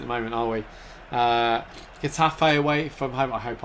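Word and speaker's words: Getafe: Uh, Gafe away from home. I hope I've I used to pronounce it Jeff Fate, I think, when I was a kid.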